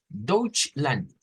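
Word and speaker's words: Deutschland: se escuche la ch dch Land dch l Ahí estamos tenga cuidado con esa porque son dos sílabas Cuál es la sílaba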